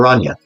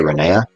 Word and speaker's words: Rania: remedies for rania now i intended her name to be pronounced rania but most of my beta testers say renea and i kind of like them both so i might actually go back and forth between rania and renee depending on whatever i'm